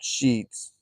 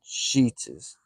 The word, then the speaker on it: Sheetz: Like everyone there called Sheets gas station Sheets's. And I tried to tell him, I said, look how it's spelled.